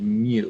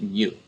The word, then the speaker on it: mu: symbol mu okay that's how we say it mu all right mu is how it's spelled it looks like this and we pronounce it mu right kind of like u with an m